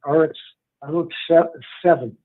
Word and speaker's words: Arutz 7: I go mostly to something called Arutz 7. Spell that again.